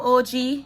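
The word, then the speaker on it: Ogee: There came out these highlighter, bronzer, and blush from OG, O-G-E-E. So I'm thinking that's how it's pronounced, OG.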